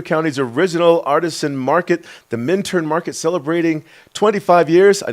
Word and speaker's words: Minturn: talking about Eagle County's original artisan market, the Minturn Market, celebrating 25 years. I know what you're saying, Ty. It's pronounced Minturn.